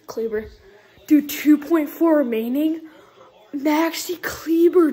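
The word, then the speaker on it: Kleber: my goodness maxi cleaver the announcer say clebo but it's cleaver clevo whatever it's probably pronounced cleva but a lot of people say cleaver dude 2.4 remaining maxi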